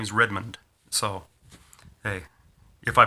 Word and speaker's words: Redmond: pronounce my name right you can call me redmund Redmon red I don't know what I call I we have to ask my family when I get back there what how do we pronounce our last name how do you pronounce it red man but uh redmund is is I a really fast D for me you can barely hear it sometimes um but uh we'll